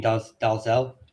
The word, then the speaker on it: Dalzell: So you'll have two names that are quite famously mispronounced, Dalzell and Menzies. Now those are both variations of the name. That's not how they're pronounced in Scotland. But if the minute you come out of Scotland, they are pronounced like that.